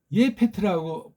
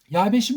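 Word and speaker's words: יפת: 이걸 예페트라고 번역해야죠. 예. 서양 애들의 이제 규정을 전제로 하더라도 예페트 이거잖아요. 예펫, 예펫, 예페트. 근데 이거는 뭐예요? 야벳이라고 하잖아요. 야, 패도 아니야 패. 일본 소리라고 그랬잖아요. 제가 이게 왜 피읍 발음을 못해?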